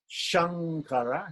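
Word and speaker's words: Śaṅkara: so here the difference Shankara Shan mocha Shankara is palatal Shan mocha so sure flat tongue flip the tongue back sure sure sure sure sure can you hear the difference I'm trying to make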